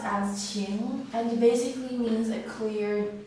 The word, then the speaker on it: 晴: This character is pronounced as Qing, and basically means a clear, as in the weather, like a clear day.